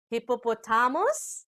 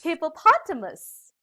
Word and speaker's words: hippopotamus: aloud uh oh did i hear something like hippopotamus the correct pronunciation of this is hippopotamus like i saw a hippopotamus running widely at